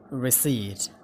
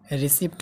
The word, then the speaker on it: receipt: रिसिट, रिसिप्ट होइन receipt, receipt।